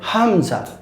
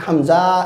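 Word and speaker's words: همزة: last বর্ণ এটা হচ্ছে হামজা এটা হচ্ছে হামজা আবার বলছি হামজা এটাকে আমরা টানবো না কেউ এটাকে হামজা এরকম বলবো না এটা হচ্ছে হামজা কেমন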